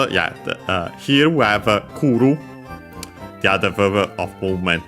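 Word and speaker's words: 来る: Uh for example uh first and foremost yeah uh here we have kuru the other verb of movement the one is iiku iu means to go unacented kuru accented means to come unfortunately completely regular so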